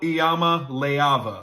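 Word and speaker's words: Iamaleava: I'll make it simple. Here it is. Niko Ayama Leava. Say it with me. Niko Ayama Leava.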